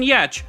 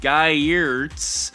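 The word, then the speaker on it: Giertz: made it into the podcast yet but Simone yecchh who you may know in your head as Simone guy years but it's actually pronounced yecch who is the queen of robots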